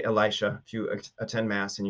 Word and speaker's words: Elisha: so just on that, you might hear his name pronounced in different ways. So there's Elisha, there's Elisha, there's Elisha, and maybe something else too. But I typically say Elisha.